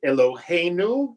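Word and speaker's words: אלהינו: Eloheinu, right? There it's on the penultimate syllable.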